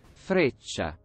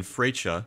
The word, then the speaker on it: Freccia: Okay, I'm gonna look up how to pronounce this, because if I pronounce it incorrectly, the Italians are not going to be happy. Freccia. Okay, the Italian Freccia.